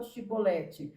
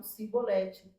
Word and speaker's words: chibolete: Então fala a palavra chibolete, só que eles não conseguiam falar, eles falavam cibolete.